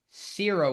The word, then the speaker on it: Cierra: Sarah Strong is Sarah and Cierra Williams, like for sear as you're searing a steak. That is the correct way to pronounce her name, not Sarah Williams.